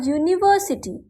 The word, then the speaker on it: university: having consonant value so there are some words that start with a vowel letter like U or E have consonant sound when pronounced in these cases we use a for example a university a unique article a European language next is with units